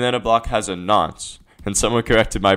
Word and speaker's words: nonce: And then a block has a nonce, and someone corrected my pronunciation on this in one of my earlier videos. I was calling it a nuance, I think, and yeah, it's supposed to be called a nonce apparently.